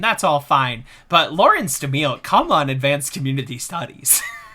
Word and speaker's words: Stamile: Oh shit, her last name's pronounced Stamile. Stamile? That's why. Lauren Stamile.